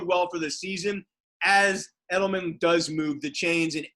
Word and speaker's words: Edelman: he's established a connection with julian with julian pronounce it correctly for me rabbi edelman thank you they hooked up for 16 completions